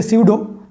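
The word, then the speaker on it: pseudo: इट्स अ स्यूडो, PSUDO, P silent है, स्यूडो या फिर वर्चुअल या फिर फिक्टिशियस, FICTIOUS, फिक्टिशियस या फेक।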